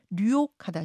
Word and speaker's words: 류옥하다: 성함이 조금 특이하셔서 혹시 제가 발음을 잘못하는 거라고 청취자들이 생각하실까 봐 잠깐 좀 설명을 드리자면 성이 류옥. 네, 맞습니다. 그렇죠? 이름이 하다. 이렇게 되시는 거죠?